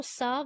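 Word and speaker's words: salve: कोशिश करते थे टू साफ देर कॉशस यहां पर एल साइलेंट है साफ साफ मींस होता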